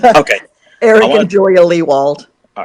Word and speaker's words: Lewald: right now uh it's it's pronounced wall which rhymes with he called there's no way anyone would know just looking at the name okay Eric and Julia leewald all right I want